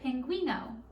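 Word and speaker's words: pingüino: know can you say that with me say pinguino good job now like i said penguins like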